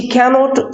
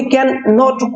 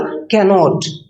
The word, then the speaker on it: cannot: सी कैनॉट swim, हमने कैन नॉट को नहीं बोला, हमने बोला कैनॉट, कैनॉट।